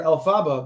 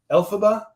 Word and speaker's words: Elphaba: it was years that I called her El Faba before I actually saw the musical production and saw that they were pronouncing it Elphaba which is different than the way I pronounced it and different than the